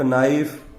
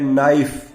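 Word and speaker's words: knife: तो यहाँ पर देखिए ब्लैंक प्लेस के ठीक बाद में लिखा हुआ है नाइफ, इसका प्रोनाउंसिएशन है नाइफ, सिंगुलर है, न से प्रोनाउंसिएशन हुआ है, कंसोनेंट से हुआ है, तो इस कारण से यहाँ पे आर्टिकल आएगा ए, नाइफ।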